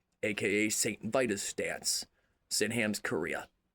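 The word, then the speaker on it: Sydenham's chorea: Sinam's Korea. And Korea is spelled different. is spelled H or spelled sorry S Y N H A M apostrophe S C H O R E A H it's an African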